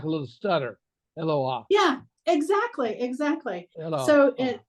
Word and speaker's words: Eloah: Okay, so that little mark right there is not an accent mark, it's a break.